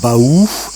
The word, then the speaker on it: Baux: Le nom Beau est issu de provençal beau prononcé Baou qui signifie lieu escarpé.